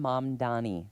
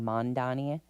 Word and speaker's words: Mamdani: Zoran Mamdani. Oh, that's a hard one. M-A-M, so it's mom and then Mamdani. Dani. And people are saying Mondani rather. Mamdani.